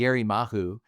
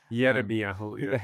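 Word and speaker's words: ירמיהו: It's not really Jeremiah, That's it's Yerimahu. Yerameyahu. Yeah.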